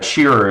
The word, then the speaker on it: Schreier: welcome attorney uh schreier am i pronouncing that correctly uh shearer is how i pronounce it okay thank you so